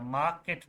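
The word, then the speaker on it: market: आर पढ़ा है हमने आर को प्रोनाउंस नहीं करना मार्केट बोलना है इसको मार्केट जी ब्यूटीफुल सिटी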